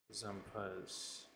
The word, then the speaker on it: Zumpas: Zumpas, pronunciation. Replace the Z with an S. Zumpas, okay.